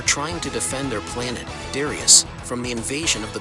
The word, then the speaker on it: Darius: Pronounced Darius according to the Japanese original title, but nowadays is better known just as Darius.